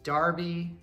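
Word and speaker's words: Derby: any sense to me these er ones so there's Darby where does the County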